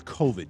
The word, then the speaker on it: COVID: gotta get this stupid covet vaccine anyway Peter it's covid you should know how to say it it's been well over